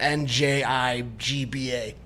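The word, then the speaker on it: Njigba: a go throw it i'm gonna go jigba n is silent okay so it's jackson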